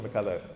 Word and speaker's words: Micallef: And when I was on SBS, when I was doing Newstopia, I would pronounce it correctly. I would absolutely, Shaun Micallef.